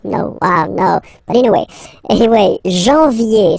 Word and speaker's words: janvier: But anyway, janvier, so that's the way to pronounce it. Janvier, A-N, an, okay, and then yé, yé, yé, janvier.